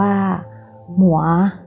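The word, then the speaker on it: 魔: ปีศาจ ใน บรรทัด นี้ มี ภาพ อักษร จีน อ่าน ว่า หมัว ใน อักษร จีน ที่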